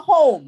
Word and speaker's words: home: Do you see the vowel, consonant, silent E in home? Home, H-O-M-E. Yes, so you circle the O-M-E because that's the VCE.